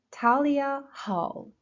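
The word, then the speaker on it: Thalia Hall: Talia Hall. Talia Hall. Talia, first syllable.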